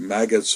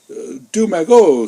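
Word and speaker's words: Deux Magots: And I was mispronouncing Magot, maggots or whatever. And he listened to me, and finally he says, imbecile. He calls me an imbecile. He says, say, Du Magot, c'est pas du maggots, And I guess imbecile.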